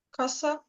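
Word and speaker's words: casa: Каса. Каса. Так, каса. Будинок. Не треба казати каза. Ні, каса.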